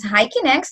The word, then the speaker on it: HIKINEX: next one of course our company is pronounced as hiking x which means human intelligence